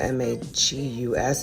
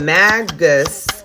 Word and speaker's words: magus: I don't know if this says magus or magus. I think it's a magus. Because it's really a magi, like a magician, magi. But I think when you spell it M-A-G-U-S, it's magus. Anyways, intention.